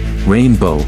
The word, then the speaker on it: Rayne Beau: Rayne Beau, pronounced like rainbow, is a 2-year-old feline